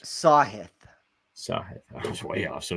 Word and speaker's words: Sahith: I mean, we both Is have that how you say his name, Sahith, or is it Sahith? It is a lot of these names. Sahith.